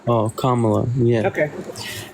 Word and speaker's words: Kamala: don't know I watched PL of interviews about Kamala and like I that's how you pronounce her name repeating the same hey hey hey that's not how you pronounce her name it's Kamala oh Kamala yeah okay right so what interviews are you